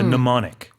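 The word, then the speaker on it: mnemonic: n i c MN it starts with an MN but the m is silent so it's a pneumonic m n e MN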